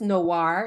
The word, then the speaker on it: Noire: Because it's noir. It's a French word for Black, but it's NoireSTEMinist.